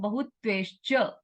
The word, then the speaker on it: बहुत्वैश्च: है ना, डबल मात्रा है ना, तो उसका उच्चारण वैसा बहुत्वैश्च, बहुत्वैश्च, ऐसा डबल मात्रा का डबल उच्चारण, मतलब वैसा ही उच्चारण करना है।